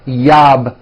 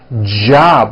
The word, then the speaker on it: job: for you Spanish speakers whenever you see the letter J in English it always makes this J sound it's never a y sound never so for example the word job has a J at the beginning J it's never yab my yab it's always my job with a strong J sound